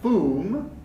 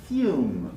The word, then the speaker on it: perfume: yup cute this is not foom but perfume you fume mute mute so